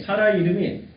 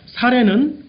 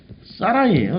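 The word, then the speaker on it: שָׂרַי: 히브리어를 읽으면 사라이. 자, 이 사라이라는 이름을 보면은 지금 요 발음도 사라이라고 되어 있죠. 사라이. 지배하는 이란 뜻이 있어요, 사전적으로. 응? 사라이가 지배하는 사람이야? 자, 우리가 이래서 고대 문명 문화를 알아야 돼요. 그러니까 사례는 우리말로 번역을 사례라고 했는데 실제 발음은 사라이라고 번역해요.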